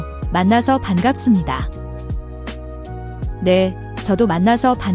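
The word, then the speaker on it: 반갑습니다: Similar to the b/p in changes to an m sound when followed by sup in this context, making it bangapseumnida.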